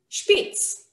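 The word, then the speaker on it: שפיץ: this way okay so word in hebrew is pronounced spitz for all of you german speakers out there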